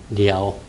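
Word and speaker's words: 遼: 지금 료하가 발음은 리아오예요. 리아오.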